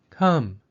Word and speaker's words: come: share the same sounds repeat after me idea enemy come but all of the words have a vowel letter that makes the short u sound or a the vowel letters a E and O also make the uh sound the two dots over